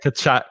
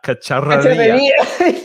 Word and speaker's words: cacharrería: Rafa's laughing because he said you gave me a difficult word to say, which is cacharrería. Cacharrería. Cacharrería, which with the double R is difficult for English speaker to pronounce.